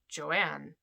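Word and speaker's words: Johanne: with my family because it's j-o-h-a-n-n-e which should be pronounced joanne but i always pronounced it joanna but j-o-a-n-n-a looks too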